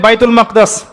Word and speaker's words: বাইতুল মাকদিস: বাইতুল মাকদিস। সরি বাইতুল মাকদাস না বাইতুল মাকদিস। বিভিন্ন মানুষ বিভিন্ন উচ্চারণ করে।